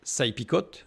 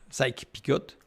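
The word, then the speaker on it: Sykes-Picot: les accords qu'on appelle sa Picot sy Picot ou sa Pico selon les prononciations pour le partage du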